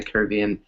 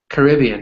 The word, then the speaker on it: Caribbean: Those countries in the Caribbean or there's actually two ways to pronounce it, Julissa, right? So the way you pronounced it, Caribbean, or you said Caribbean, right? You can also say Caribbean. It's actually Caribbean. more it's actually more American to say the way you said it.